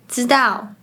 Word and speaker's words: 知道: Let’s see some examples, “是 to be” is pronounced like “是 si4” “知道 to know” becomes “知道 zi dao” “吃 to eat” becomes “吃 ci4” The next one is 3.